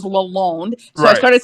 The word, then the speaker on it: Lalonde: always called it well i always called him lalonde until i was corrected it was lalone so i started saying